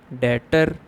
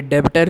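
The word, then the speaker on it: debtor: डेटर versus creditor. अब ये डेबिटर नहीं होता, इसमें भी साइलेंट होता है, तो इसको डेटर पढ़ेंगे।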